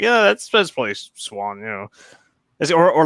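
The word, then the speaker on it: Siuan: Wait, her name's pronounced Swan? Yeah. Well, I'll be honest. Being from Ireland, that doesn't seem that weird to me. Like that's. I always pronounced it Suian.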